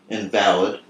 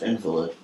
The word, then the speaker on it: invalid: When used in the legal sense, it's pronounced invalid. When used in the sickly sense, it's pronounced invalid.